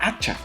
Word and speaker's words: hacha: Lo mismo ocurre con la palabra hacha. Hacha empieza por la letra H, pero la letra H no se pronuncia.